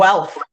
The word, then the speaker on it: Guelph: Rebecca was offered the management position at Woodlawn Memorial Park and started to commute to, is it Guelph? I want to pronounce this correctly. Guelph.